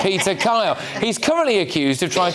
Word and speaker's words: Peter Kyle: You don't want to mispronounce that name. It's Peter Kyle.